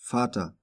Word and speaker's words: Vater: The letter V can be pronounced like F as in Vater, or like a V as in Vase.